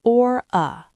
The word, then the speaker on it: aura: Number 2, aura, pronounced or-a.